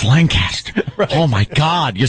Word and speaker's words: Lancaster: Boulevard yeah on my way to uh uh Lanchester no you said it wrong it's Lancaster oh my God you said it wrong it's